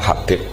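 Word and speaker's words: حبيب: Itu di harakatnya kitab itu ada yang nulis Hubab. Tapi yang benar Oh, nggih. Yang benar itu bacanya Habib.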